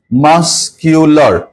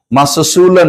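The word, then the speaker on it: muscular: ল উচ্চারণ হবে ল মাসকিউলার মাসকুলার নাকি মাসকিউলার মাসকিউলার মানে পেশীবহুল দেখবা সালমান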